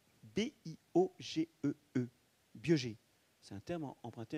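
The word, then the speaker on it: Biogée: Ça s'écrit B-I-O-G-E-E, Biogé.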